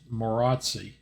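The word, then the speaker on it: Maróczy: Part 1, Introduction of the Maroczy, which Larry Evans said should be pronounced Maroczy.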